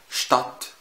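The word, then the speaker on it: Stadt: طب تعالى الاس تي في الاول برضه هتنطق الاس وكانها شين. ازاي؟ شتات مدينه، او شتاك قوي، او شتول كرسي.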